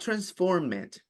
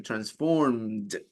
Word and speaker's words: transformed: Pronunciation, not transformed. As I told you before, if the word ends with T or D, you pronounce the E.